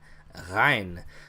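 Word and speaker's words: غين: So it sounds like a G. A lot of times you'll see it transliterated as GH. But it's the same thing almost with a cough. You're putting your tongue back and you're vibrating up at the roof of your mouth in the back, and you're making a G sound.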